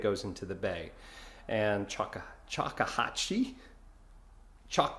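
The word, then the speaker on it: Choctawhatchee: into the bay and Chaka chahi chak Bay that's how we pronounce it so uh or at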